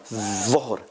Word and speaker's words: ظهر: So if we want to distinguish between dhahaba, dhuhr is the tongue is much further out than ذهب.